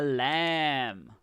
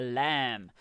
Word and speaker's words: lamb: this one correct a lamb there we go a lamb remember the bee is silent so we say lamb so that b is